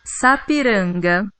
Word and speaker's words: Sapiranga: tá aqui ó Sapiranga ela é dito assim ó Sapiranga viu é assim que se pronuncia essa palavra ela tem vários significados